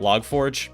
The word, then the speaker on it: Log4j: using the log 4j apparently you're supposed to pronounce that log forge i'm not going to